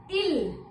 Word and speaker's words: il: He is ill. Ill. In English it's जैसे बोलते हो ना बीमार हो जाते हो तो क्या बोलते हैं? I am ill. So you need to pronounce in the same way.